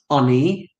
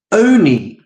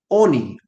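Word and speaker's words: עני: For Rabbi Yossi Haglili, so hang on a minute then, Rabbi Yossi Haglili, mikarin on ani, does the word get pronounced ani, as if it's a poor man? Oni karinan.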